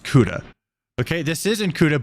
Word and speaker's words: Ceuta: I think it's pronounced Ceuta.